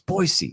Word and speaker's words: Boise: listen No One Cares like cares no it's boisey it's who gives a well